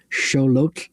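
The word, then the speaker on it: Xolotl: in my notes but look up scholot it's x o l o t lolot is how you actually say that and he was kettle's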